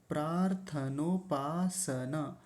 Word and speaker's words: प्रार्थनोपासन: प्रार्थनोपासन कुछ लोग गलत उच्चारण क्या करते हैं? पासना पासना नहीं पासन सन स पूरा है और आगे है मंत्राह